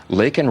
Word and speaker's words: Laken: with President Biden, and he mentions Laken Riley's name, though he mispronounces it and says Lincoln.